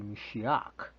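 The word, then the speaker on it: משיח: But if you're Aramaic in your schooling, like we are, it would be Mashiach, all right. So it's kind of like someone you're saying Mashiach, but somebody puts stroke or chokehold on you, so you ach, all right.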